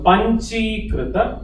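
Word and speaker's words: Pañcīkṛta: So Panchi Krita, Panchi, the I is capital, so it's Panchi.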